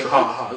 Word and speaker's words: Har-Aha: I need to pronounce it correctly. You know, you can call me Har-Aha. Call me Har-Aha.